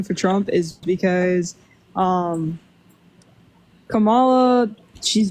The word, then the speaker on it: Kamala: pronounce her name I don't know how to pronounce her name right it'sa Kama okay Kamala sorry are you good what